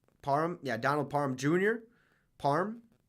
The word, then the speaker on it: Parham: back on the menu they tweeted says Donald Purim uh Parham Parham yeah Donald Parham Jr parm sure tight end